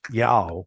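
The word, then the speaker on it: JAOO: And the way that they pronounce their J's is like more like a Y. So that's the pronunciation of the conference then was yao when it was j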